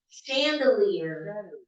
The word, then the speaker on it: chandelier: Okay, now words with ch spelling but sh pronunciation. Chandelier, Chicago, sachet, sachet, sachet.